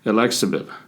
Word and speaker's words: Elyxyb: approved by the FDA the drug name is alexab migraine it's kind of hard to say I'm spell it e l YX YB and what it